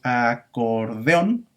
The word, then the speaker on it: acordeón: más tenga tres sílabas no porque decimos acordeón acuérdense que por regla general dos vocales abiertas no pueden estar en una sílaba entonces vamos a separarlas y por eso decimos a por de jong y este acorde con